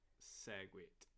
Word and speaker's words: Segwit: Okay, so it's just Segwit.